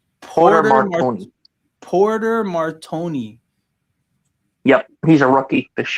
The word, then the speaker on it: Porter Martone: I got his name wrong. It's Porter Martone. Porter Martone.